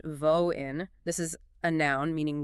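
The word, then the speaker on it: воин: First, you have pronounced Voin.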